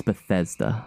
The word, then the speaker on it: Bethesda: By Bethesda. Is that how you say their name? I've been saying. How do you say it? Bethesda. Bethesda? Yeah. It's Bethesda.